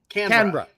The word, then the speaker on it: Canberra: Canberra. It's Canberra. 2 syllables, like Canberra. Take the CANBRAH.